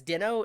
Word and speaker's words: Deno: heard it called it calling it Dino was a bin Awad he has a YouTube channel and I was like Ben Ben's always pronounced things weird he calls no daman no demon but I mean that's probably a right pronunciation subway was like is it really Dino and I saw a conference talk like Ryan doll introduced it as Dino and then he stopped